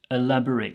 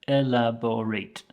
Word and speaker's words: elaborate: we have is elaborate elaborate so there are four syllables in there there elaborate okay there is an